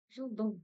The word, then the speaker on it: жылдың: Смотрите, буква У в казахском языке читается твердо и кратко, не так, как в русском. Она очень и очень короткая. Жылдың, как будто бы ее вообще нет.